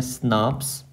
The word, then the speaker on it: snRNP: Pronounce करते हैं स्नाप्स।